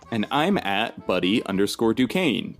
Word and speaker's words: Duquesne: those happy places and I'm at buddy underscore Duquesne Duquesne is spelled d-u-q-u-e-s-n-e and if you're a fan of